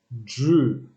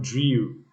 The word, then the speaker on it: drew: chess eight unconscious nine drew not dream don't pronounce the dream i drew a picture